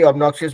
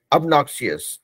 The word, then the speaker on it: obnoxious: तो हम भी अबनॉक्सियस बोल रहे थे लेकिन वो एक्चुअली वो सही नहीं है. अबनॉक्सियस obnoxious, obnoxious, ठीक है?